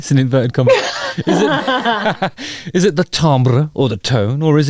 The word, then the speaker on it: timbre: um placements of the sound that leads to Timbre or tambra becoming predict the correct pronunciation is Tom bro laughs and yeah sometimes you'll get a sound